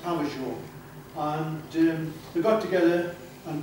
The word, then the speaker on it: Pavageau: Lots of people call him Pavagoo, but it's pronounced Pavageau.